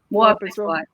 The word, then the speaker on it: Boa, pessoal: Am I even pronouncing it? I'm sorry. no, Boa you're saying- pessoal. Boa, pessoal.